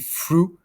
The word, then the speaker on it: through: Donc ici, through, THR, c'est celui qui va se prononcer fr.